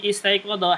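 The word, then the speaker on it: استيقظ: Perhatikan sini, istaiqadha hamzahnya dia hamzah wasl. Hamzahnya hamzah wasl ya. Istaiqadha yastaiqidu. Yastayqidu. Yastayqidu. Istaiqadha yastayqidu, istiqad. Baik, hamzahnya ini hamzah wasal dibacanya kasrah.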